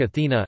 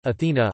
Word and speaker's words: Ἀθηνᾶ: In antiquity, it was debated whether Athens took its name from its patron goddess Athena, Attic Athena, Athena, Ionic Athene, Athene, and Doric Athana, Athana, or Athena took her name from the city.